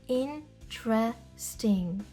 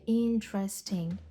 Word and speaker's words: interesting: ніж вони пишуться наприклад слово interesting цікавий може звучати як in tresting тобто на письмі ми бачимо чотири склади але на вимові це буде interesting interesting interesting That's interesting